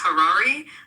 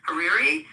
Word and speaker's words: Hariri: Um, someone helped me because I mispronounced sometimes Harari Hariri who was um the at the time in